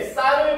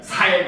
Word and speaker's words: 쌀: 서울은 나에게 쌀을 발음해 보세요 하고 까르르 웃는다 라는 거죠. 이 화자가 경상도 사람인가 봐. 알겠지? 경상도 사람, 물론 선생님도 부산 사람이긴 하지만 경상도 사투리가 진짜 심하게 되면은 쌀 발음을 못해. 살이래요.